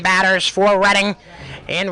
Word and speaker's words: Reading: And Liam Hansen will finish out the starting 9 batters for Reading in right field.